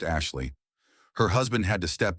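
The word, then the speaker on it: Ashliegh: A s H L I E G H pronounced Ashley.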